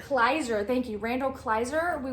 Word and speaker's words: Kleiser: So Tuesday I reviewed Grease, and the director, I always forget how to pronounce his name, Randall Kleiser. Kleiser, thank you, Randall Kleiser.